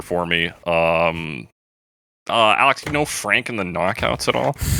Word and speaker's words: Franke: Frankie? Like I Frankie? just looked at a pronunciation thing and it said Frank Previte, and I was like, cool.